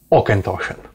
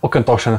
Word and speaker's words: Auchentoshan: potężnej marki, jaką jest Okentoshen. Będzie to Okentoshen 12-letni, czyli jedna z najbardziej takich rozpoznawalnych, standardowych wersji, które Okentoshen w ogóle robi. Jest to taka marka, która oczywiście czyta się bardzo dziwnie, o tym już wspominałem